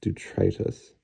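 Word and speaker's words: detritus: at the amount of detrius comp piled in here so this should be this color red I'm sorry it should be pronounced durius I always preferred the pronunciation detrius though you know I don't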